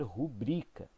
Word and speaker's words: rubrica: é um deslocamento tá porque o termo original ele coloca sílaba tônica nubri né na segunda sílaba então originalmente deveria ser rubrika ok é isso então